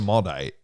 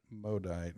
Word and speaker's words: Maudite: I call it the Maudite. Well, I know like mauve, M-A or A-U is an O sound, so it'd be Maudite or Maudite.